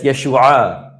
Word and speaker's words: Yeshua: And then there's the H, which we don't pronounce. Is that not Yeshua? That's Yeshua.